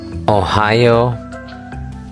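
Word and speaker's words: おはよう: Ohio.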